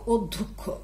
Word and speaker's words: অধ্যক্ষ: শব্দ লিখছি এই শব্দটা কি লিখলাম দেখো তো অধ্যক্ষ অধ্যক্ষ শব্দের উচ্চারণ আমরা লিখব ও দ ও ধ কদ্দ